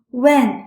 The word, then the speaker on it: wen: This sound is close to when in Wendy. However, the Chinese when requires a wider opening of the mouth.